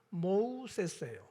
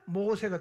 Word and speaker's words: 모세: 그러니까 애굽식 발음은 뭡니까? 모우세스예요. 모우세스. 그런데 이걸 갖다가 히브리인의 발음으로 하면 모세가 되는 거예요.